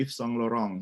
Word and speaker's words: Yves Saint Laurent: Tapi kalau secara bahasa Perancis ini Yves Saint Laurent gitu ya.